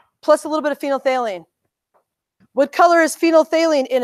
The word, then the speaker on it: phenolphthalein: It's called phenolphthalein. There's lots of P's and H's and TH's in there.